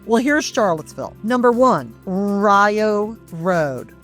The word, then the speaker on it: Rio: So Rio, R I O is pronounced like the bread.